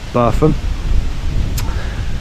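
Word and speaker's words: Burpham: the local Village of bam spelled b u r p h a m but is pronounced bam and um one of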